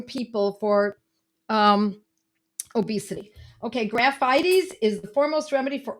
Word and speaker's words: Graphites: Graphites. It looks like graphites, but because this is Latin, we pronounce it a little differently.